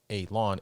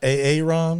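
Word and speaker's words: A-Lan: a humanish looking alien called elon pronounced a lawn a l a w n not a a ron not a a ron okay but a lone alone which took place at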